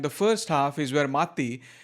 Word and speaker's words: Matti: It's about 2 hours long, and the first half is where Matti, that's how they say his name with both T's pronounced, so he talks for